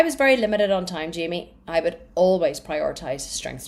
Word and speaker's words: Jamie: Okay, Jamie, she told me it's Jamie, it's not Jaime.